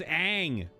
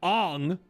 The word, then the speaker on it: Aang: So when you make your fucking movie and you change the way his name is pronounced of the protagonist to Ong, what do you think fans are going to do?